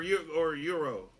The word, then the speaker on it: gyro: Do you pronounce it gyro or euro? It's Euro. I know it's Euro, but I say gyro.